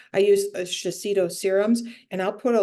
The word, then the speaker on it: Shiseido: What I've always done, or for a while now, is I think I'm pronouncing it right, Shiseido. I use Shiseido serums, and I'll put a little drop of